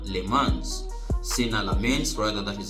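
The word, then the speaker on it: Senne: So that is half of the matches played and you see that um another outstanding performance came from Sena Lemans sains rather that is how is pronounced smens and of course he made a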